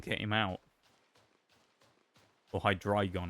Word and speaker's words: Hydreigon: I mean, even in Gen 5, when Hydreigon came out, or Hydreigon, I guess, is the correct pronunciation, isn't it? 'Cause it's, it's supposed to be German numbers.